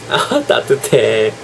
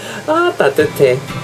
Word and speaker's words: 따뜻해: Ah, 따뜻해. Ah, 따뜻해.